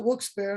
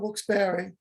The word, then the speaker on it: Wilkes-Barre: And I pronounce it Wilkes-Barre, not Wilkes-Barre.